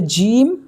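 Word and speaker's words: ج: ये है जीम, इसको जीम बोलेंगे और जीम की हिंदी ज होगी। इसका उच्चारण हम करेंगे जीम, लेकिन इसकी जो हिंदी है वो ज है।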